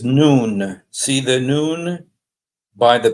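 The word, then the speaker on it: نون: uh well in Arabic the letter N is pronounced noon okay so this is not nun it's written like nun like Joshua son of nun but this is noon it's pronounced noon and uh but what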